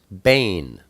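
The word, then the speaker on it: בן: word for son is it looks like been ven in English but it's pronounced Bane and you'll see two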